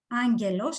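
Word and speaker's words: άγγελος: Okay, so you know that in Greek, in some cases, the word angelos, I pronounce it with nu. Do you hear angelos? Okay, do you hear the nu?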